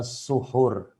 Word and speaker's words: suhur: yang ketiga fadilatul dzuhur Mohon diperhatikan bacanya Fadilah tua suhur keutamaan suhur dzuhur arti bahasa Indonesia jenis saur-saur dihajar ternyata selama ini kita salah mengeja selama ini selama ini